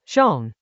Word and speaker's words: 重: The character Chinese letter, zhōng, means both heavy and important.